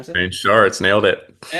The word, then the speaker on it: Schartz: I'm joined today with Zayn and it's Sharts, right? Is it Sharts? Is that how you pronounce it? Zane Sharts.